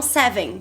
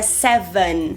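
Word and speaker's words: seven: As pessoas falam 7, mas é 7, van, 7. E tem esse N final do inglês que fecha a sílaba, ancora, né? Que é a língua encostando no dente.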